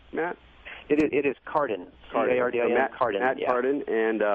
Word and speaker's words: Cardin: It is Cardin.